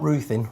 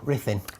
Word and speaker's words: Ruthin: Well, you know, Ruthin Castle, not Ruthin, Ruthin.